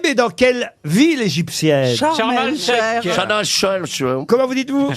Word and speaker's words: Sharm el-Sheikh: je le prononce à l'égyptienne.